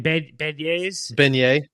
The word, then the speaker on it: beignet: Beignets?